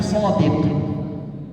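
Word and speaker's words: صادق: Di sini ada 9 adik, ini bacanya sodik.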